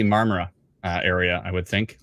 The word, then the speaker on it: Marmora: uh it would be I'm gonna pronounce this wrong Marmora did I get it wrong I said the o mamara marmara it'll be marmara uh area I would